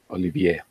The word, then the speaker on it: Olivier: of Rennes in France, Olivier, that's how you pronounce it.